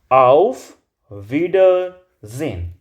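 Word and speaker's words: Auf Wiedersehen: है तो आप उसको जेड यानी कि जे प्रोनाउंस करते हैं तो आप इसको क्या बोलेंगे आउफ विडजेन ऑफ विडजेन चलिए नेक्स्ट नेक्स्ट है आपके के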